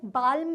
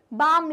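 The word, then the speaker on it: balm: हम कभी भी ऐसा बोलते हैं क्या आप जाओ बालम ले आओ? नहीं हम क्या बोलते हैं? बाम ले आओ। तो इसलिए इसमें हमारा जो एल का प्रोनाउंसिएशन है वो साइलेंट है।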